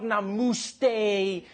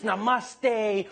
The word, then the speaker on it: namaste: People were coming on like, dude, it's not namuste, it's namaste. Who messes up namaste? It says namuste.